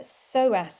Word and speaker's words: psoas: Her dog has a psoas injury. It's spelt PSOAS though, so I hope I've said that right. Yep.